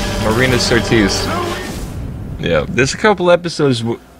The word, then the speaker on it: Marina Sirtis: Martina Sirtis. I mean, you know who am I talking about. I apologize for pronouncing the name wrong. Marina Sirtis.